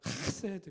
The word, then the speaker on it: 헤세드: 더 정확하게 하면 헤세드 뭐 이렇게 발음 좀 힘들다고 해요.